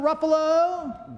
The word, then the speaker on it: Ruffalo: Ruffalo they know they're superheroes - because that's correct yep Ruffalo rhymes with Buffalo another 10 drop to